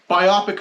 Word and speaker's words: biopic: Uh we're, you know, biopic films or how do you say it? Biopic. It's easier. It just it just makes more sense because it's a biop picture.